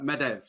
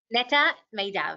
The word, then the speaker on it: Netta Medav: Nita, am I going to pronounce this right? Medev. Netta Medav, yes, almost there.